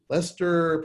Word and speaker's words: Leicester: joseph the director of curriculum and instruction for leicester public schools did i pronounce it right uh matt uh yes it's actually pronounced lyouster can you try that one sure no i'm laos you got it right lester is how you do it that's what i